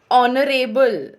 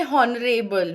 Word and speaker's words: honorable: Honorable. We don't say honorable. We say honorable. And in that the H is silent.